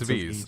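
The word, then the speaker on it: VVVVVV: many V's I said it's six V's the answer is six V it's pronounced v um and those were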